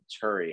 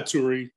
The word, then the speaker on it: Turi: channel i'm doing an interview today with turi how are you i'm good aaron how are you good am i pronouncing your last name correctly yeah turi turi's fine either or curious so that's a